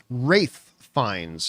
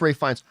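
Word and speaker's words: Ralph Fiennes: my favorite Greek tragedies by the way it's pronounced wraith fines just for everybody out there I know it's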